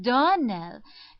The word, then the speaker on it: Donnell: morning connected with the Donnell children. Clarissa Myra told me that you pronounced our name Donnell. Now, Miss Shirley, the correct pronunciation of our name is Donnell. Accent on the last syllable.